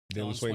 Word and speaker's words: Dalen Swain: Dylan Swain, that's how you say it?